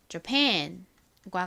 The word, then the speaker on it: Japan: 이 Japan의 경우에는 뒷부분에 강세가 있고 앞부분 A에 강세가 없어요. 그렇다 보니 좀 애매하게 대충 발음하는 듯한 소리가 납니다. 그래서 Japan과 같이 발음이 돼요.